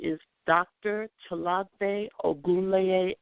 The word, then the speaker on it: Tolagbe: and gulligici wars and my name is dr chalape or goulet l will you spell that queen uh trs in 2018 spell your name okay so to log bay is capital t o l a g b